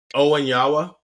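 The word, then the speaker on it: Onianwa: starters you have um remind me how to pronounce Ethan's last name Owen yawa Owen yawa I think I'm I keep hearing it and I'm I keep hearing it essentially pronounce the exact way it's felt okay that helps that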